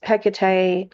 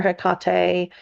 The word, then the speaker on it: Hecate: And of course, the fifth one that I'm going to talk about is Hecate or Hecate. Just depends upon how you want to pronounce her name.